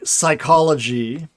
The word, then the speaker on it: psychology: that out just like psychology right that p disappears or pterodactyl the p